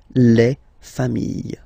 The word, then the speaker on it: familles: You just add this final S and you get the plural form, les familles, okay? Remember, chien, singular form, chien, same pronunciation, but you put this S, okay? Final S, not pronounced.